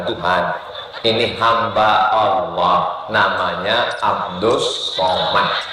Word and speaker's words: Abdul Somad: Ini hamba Allah namanya Abdus Somad. Tulisannya Abdul Somad, tapi cara bacanya Abdus Somad.